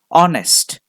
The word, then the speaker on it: honest: a lot of confusions take the example of the word honest one word that has been confusing you from your kindergarten days honest when you write that word it is h o n e s t but when you read it the H